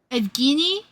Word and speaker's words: Evgeny: But this individual became one of the decade's most Evgeny Plushenko.